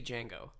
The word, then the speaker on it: Django: j-julia it should be Django and that makes me wearing way more sense alright is that D the Django bow with the deer the D is silent yeah yeah like he's